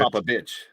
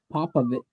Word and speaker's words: Popovich: Pop a bitch. Don't pop a bitch. Popovich.